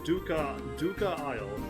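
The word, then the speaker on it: Dvucca Isle: Said something about feeling an ominous presence to the west of Duca Isle. The V is silent. Why don't you check out Duca Isle yourself and take that coin with you?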